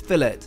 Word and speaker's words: fillet: rare and for me a medium cooked fillet yes we pronounce it that way in the UK before I get any fillet corrections to close we really